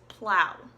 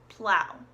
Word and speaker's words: plow: the next one is plow plow and this one is pronounced Lincoln Oh W like way say owl like that hurt ow it's pronounced with that sort of vowel sound but it's spelled with